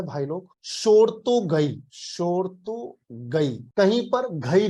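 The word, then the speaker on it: Shortugai: इस साइट का नाम है भाई लोग शोरतोगई।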